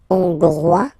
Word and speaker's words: hongrois: Okay, hongrois, grois, hongroise. Okay, so here, final S not pronounced for the masculine form, and then you pronounce it here for the feminine form.